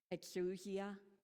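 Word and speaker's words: ἐξουσία: I didn't go into listen to how you say it in Greek so this is my interpretation exusia from eesti it is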